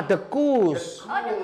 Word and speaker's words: Dekoes: Ini ejaan lama, Dekus. Tulisannya Dekoes, tapi bacanya Dekus.